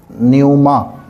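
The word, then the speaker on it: πνεῦμα: होगा पेन पेन मा लेकिन इसको अक्सर साइलेंट करके पढ़ा जाता है तो फिर क्या पढ़ा जाता है न्यूमा द स्पिरिट ठीक तो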